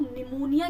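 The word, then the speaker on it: pneumonia: पता चल गया होगा यहां पे पी साइलेंट है आई डोंट थिंक सो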